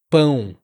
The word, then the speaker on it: pão: Então, só para deixar mais claro e ajudar você, ele não é a, ele não é on, ele é pão.